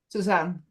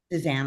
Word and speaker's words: Susanne: Is it Suzanne or Susan? Susanne. Suzanne, I'm sorry.